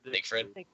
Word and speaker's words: Siegfried: Siegfried.